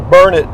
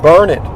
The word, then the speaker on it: Burnet: that getting close to burnett texas it's b-u-r-n-e-t which normally would be pronounced burnett however it's burn it darn it can't you learn it that's what they'll